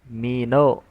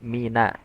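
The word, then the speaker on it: مِنَ: Huruf nun jangan dibaca tebal. Mino mino tapi mina tipiskan.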